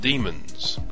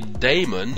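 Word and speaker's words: daemon: care and maintenance of demons actually the pronunciation of the word varies i've heard people say it both ways some say damon and some say demon mostly people don't talk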